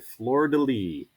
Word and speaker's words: fleur-de-lis: lilies are called the fleur-de-lis so you guys can go ahead and say that fleur-de-lis look at that it's the silent s rule so fleur de lis um what i want